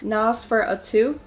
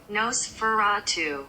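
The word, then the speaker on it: NOS4A2: Nosferatu. Nosferatu. What Google said. Is that English? Nosferatu by Joe Hill is the next book that I want to read.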